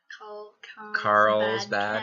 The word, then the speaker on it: Carlsbad Caverns: Yeah, that's how you say it. Carlsbad. Cavern. Yeah, like Carl's Jr.